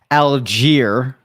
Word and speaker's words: Allgeier: that is uh tyler algiere is the i i listen i watched some clips so that i could get the pronunciation correctly wasn't sure if it was al geyer it it it is algier i can confirm that